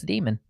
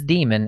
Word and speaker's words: daemon: It's demon. It is demon, and now we have some ammo.